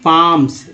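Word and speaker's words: palms: Next देखिए lady hoods, lady loves, lady पाम्स, L जो है साइलेंट है यहाँ, lady पाम्स, lady sips, lady Smith, trials, ठीक है।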